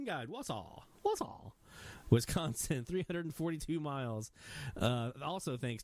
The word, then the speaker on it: Wausau: Hey, he gave me a pronunciation guide. Wausau.